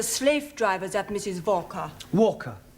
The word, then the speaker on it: Walker: more all that Mrs vka is keeping me busy Anna do this Anna do that she is a slave driver at Mrs vka Walker what w is pronounced W your employer's name is Walker yeah vka do you